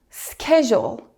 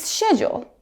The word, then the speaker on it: schedule: In the US, it's schedule, but in the UK, it's schedule. Same spelling, but different sounds.